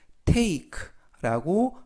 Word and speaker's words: take: 첫 번째 단어 T는 트, A는 A, K는 크, 그리고 맨 끝에 있는 E는 발음하지 않습니다. 그래서 take라고 발음합니다.